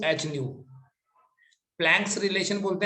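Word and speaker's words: ν: इस इक्वेशन में E stands for energy, ये जो सिंबल लिखा है इस सिंबल को प्रोनाउंस करते हैं न्यू।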